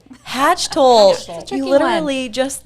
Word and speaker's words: Hachtel: This is Hachtel. Hachtel. Hachtel.